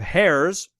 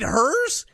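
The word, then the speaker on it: Herr's: Next up, we have Hares versus Tostitos. Hares? I don't even know what Hares is. Really? You mean hers? H-E-R-R? Is it hers? Yes. I thought I pronounced it Hares. No, it's hers chips.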